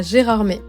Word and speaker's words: Gérardmer: dans les vauges à gérarmé et oui ça se prononce bien comme ça on s'est encore beaucoup